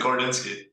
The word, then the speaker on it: Gorodinsky: I can't pronounce it. Gordo. We have Gordo. Say that again? That was good, Gordinsky.